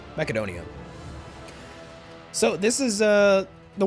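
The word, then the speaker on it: Μακεδονία: Don here's Macedon but in Greek you pronounce it makedonia so this is a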